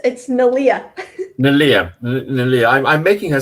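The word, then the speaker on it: Neleh: And Neela. Have I got her name pronounced correctly? No, of course not. It's Nalia.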